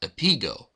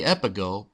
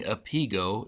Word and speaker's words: Epigo: This episode of Table for Two Show was recorded before we learned the correct pronunciation of this game, which is Epigo. Every time we say Epigo, pretend we are saying Epigo instead.